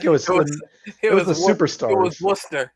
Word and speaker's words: Worcester: watch a show from rooster Massachusetts probably I think it was Superstar it was Worcester it was Worcester masser oh if you pronounce that in the southern accent though it sounds roer yeah see we went